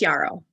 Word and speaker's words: Yarrow: We've met a few times, but I want to make sure that I am pronouncing your name correctly. Yeah, it's Yarrow.